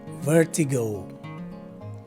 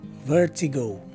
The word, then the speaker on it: vertigo: the right way to say this word is vertigo again vertigo this is the seventh word in our